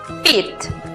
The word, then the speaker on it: repeat: Repetir. Vemos que está compuesta por dos sílabas. La primera sílaba aplica la regla general, es decir, es una sílaba abierta porque termina en vocal. Por lo tanto, aplicamos el sonido abierto de la vocal E. Ri. La siguiente sílaba es una combinación donde encontramos la vocal E con la A juntas en la misma sílaba. Repeat. La pronunciación para la palabra repetir es repeat.